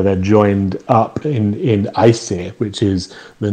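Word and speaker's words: Æsir: relatively easy to pronounce it's just more of a more of an eye sound as almost as in ice um and the th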